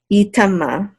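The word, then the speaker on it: יטמא: And this aleph is silent. Yitama. This means he shall not become unclean.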